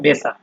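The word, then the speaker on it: Becher: এর মত শোনা যায় যেমন এখানে আছে বেচা ঠিক আছে বেচা এই লাস্টে আপনার আরটা কিন্তু মানে উচ্চারণ হচ্ছে না যদিও আপনার লেখার ক্ষেত্রে আপনার এই ইয়ার দিয়ে লিখতে হবে উচ্চারণ করার ক্ষেত্রে এটা হবে বেচা এরপরে আছে হচ্ছে আপনার ফাটা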